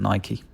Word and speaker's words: Nike: Gets a Nike, and Nike is how you pronounce it, not Nike.